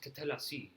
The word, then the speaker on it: Tatellecy: it's pronounced Tatellecy.